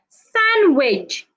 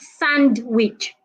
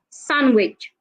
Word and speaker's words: sandwich: We also have sandwich, not sandwich. The D is silent. So we don't say sandwich. We don't say grandma. The D is silent. It's grandma, sandwich.